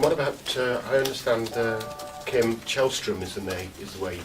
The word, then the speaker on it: Källström: And what about, I understand Kim Källström is the way you pronounce his name.